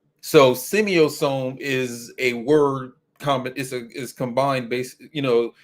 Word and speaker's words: semiosome: And the new word is right here in the title of the live right here is semiosome. Semiosome. 4 syllables.